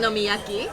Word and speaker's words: okonomiyaki: Okonomiyaki.